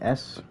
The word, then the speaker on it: Sayori: If someone doesn't tell me to pronounce it, I pronounce it with Google Translate. Okay. Okay, S-A-Y-O-R-I.